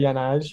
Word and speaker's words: Jan Åge: respect for, you know, pronouncing Jan Åge, which it is in Norwegian. I would say Jan Åge.